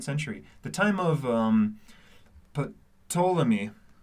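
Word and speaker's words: Ptolemy: Actually, Wilson, we're in Alexandria during the second century, the time of um Patamy. Tammy. It's pronounced tammy. The P is silent.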